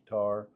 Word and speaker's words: Qatar: Uh Qatar The way I That's how I'm pronouncing it, Qatar. Uh others call it Cutter, I think, but whatever.